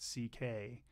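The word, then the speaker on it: Székely: Because I know his last name is pronounced C.K., but it's written all interesting because his family is from someplace with interesting spellings that we Americans don't know.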